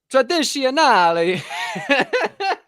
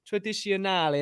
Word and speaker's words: tradizionale: If I could share Italian food, some Italiano food, some I don't know what the word for tradizionale.